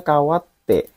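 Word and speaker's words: 変わって: Ini bacanya harusnya kawate. Bukan kate ya. Ada kanjinya ini kawaru kawate. Yang bacanya kawate artinya berubah. Aku bentuk saya ini. Ai artinya berubah. Kawate. Bacanya bukan kate, kawate.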